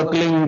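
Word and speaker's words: क्लीं: की मात्रा और बिंदी, उसका उच्चारण होगा क्लीन गा की ध्वनि निकलेगी पीछे।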